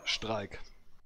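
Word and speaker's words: Streik: German word for strike strike Einstein it's it's the same word just that you write the German instead of s-t-r-i u s t r e i because that's how Germans pronounce the I if you if you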